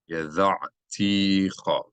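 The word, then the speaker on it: ידעתיך: Tishlah immi wa atta amarta yada'ticha. Here we see an indication by the cantillation symbol that ta'am, that we should emphasize this syllable.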